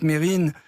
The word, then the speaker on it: Mesrine: moi je m'appelle jacques mesrine mais il ya un ace mais on ne prononce pas mais appelle moi